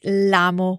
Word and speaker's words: l'amo: in amo, the verb, we can drop the o and just say l'amo with the apostrophe and run the two words together, l'amo, which sounds like one bigger word phonetically.